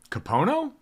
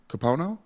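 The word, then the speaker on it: Kapono: know how to say names Mike could you pronounce this for me his exact middle name I was right about Zachary k-a-p-o-n-o capono capono Wilson we should have known he had that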